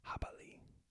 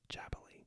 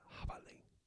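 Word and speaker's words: jabalí: And then J sounds actually more like an H, but it's pronounced at the back of the throat, similar to before. So habali. So not jabali, but habali.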